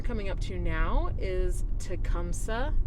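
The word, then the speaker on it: Tecumseh: up to now is tumsa and 12 and yes that is how you say it there is also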